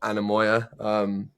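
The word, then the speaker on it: Anemoia: There's a lot of therapy going on here as well of shared trauma, but my album is out, Anamoya.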